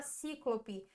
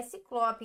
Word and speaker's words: ciclope: temos paroxítona e Ciclope a gente não fala cíclope é Ciclope Então a gente tem ó